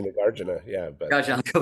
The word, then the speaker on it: Nagarjuna: say Nagarjuna, yeah, but Gotcha, I'll go with you.